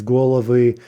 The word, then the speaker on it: головы: We'd expect to see the stress jump back, but again, it's not always going to be clear what syllable it's going to end up on, right? So голова becomes головы, страна becomes стороны.